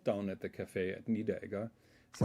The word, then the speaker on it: Niederegger: Niederegger.